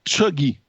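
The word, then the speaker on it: cheugy: démodé desénari et ce mot c'est le mot chugy ok alors chugy là ça s'écrit C H e u g y et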